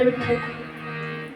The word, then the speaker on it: विठ्ठल: त्यांना म्हणायला लावलं काय विठ्ठल विठ्ठल विठ्ठल विठ्ठल विठ्ठल बी ठ ल डबल ठ येतो की नाही अल्पप्राण आणि महाप्राण त्याच उच्चारण जेव्हा करतो तेव्हा हृदयावरती प्रेशर येत असं म्हणून पहा विठ्ठल